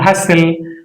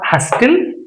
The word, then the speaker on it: hustle: If a word ends with STL, T is not pronounced. In this word, STL is present. STL. Castle. Hustle, pessle and rustle.